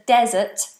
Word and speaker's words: desert: If you live in the desert, the sandy place, with lots of sand, it's a desert. Desert. But what you eat after dinner is dessert.